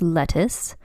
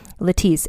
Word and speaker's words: Lettice: her name written out it looks like her name is lettuce because it's spelled l e t t i c e but in fact it is pronounced letis and the Christmas Connection